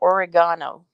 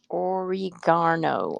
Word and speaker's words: oregano: elderberry in your spaghetti carol said the second way you said it is how we say it in the uk so oregano oregano oregano that sounds japanese that's